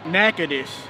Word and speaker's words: Natchitoches: Natchitoches. Yeah, there's a school in northwestern Louisiana. This is Natchitoches?